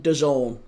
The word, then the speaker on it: DAZN: Um, but yeah, no, it's it's on Done. Dazn. It's on Done. I'm led to believe you you pronounce it Don, but yeah, Daz Zn.